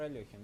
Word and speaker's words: Алехин: Подожди, так это ж если это ж, по-моему, Александр Алехин, нет?